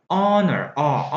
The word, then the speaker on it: honor: 여기서는 H가 소리가 안 나거든요. 묵음이라고 하는데 honor, 발음이 나니까 H가 발음 안 나거든요.